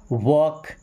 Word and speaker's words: वॉक: वॉक यहाँ पे L silent है ना, ओके।